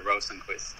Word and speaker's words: Rosenqvist: I think it's better like most people say it. I mean, as it looks, let's say.